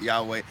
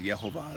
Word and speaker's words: Yehovah: I tend to go with Yehovah. That's the one that's got the closest representation of vowel markings in some of the